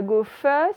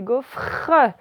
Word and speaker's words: gaufre: Et attention, c'est pas gaufre, c'est gaufre. J'ai bien le R.